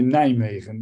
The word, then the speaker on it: Nijmegen: Radboud University Nijmegen.